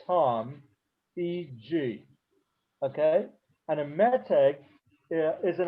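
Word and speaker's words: מתג: Another thing that relates to this that's important is a word called meteg. M-E-T like in Tom, E-G. Okay? And a meteg is an accent mark.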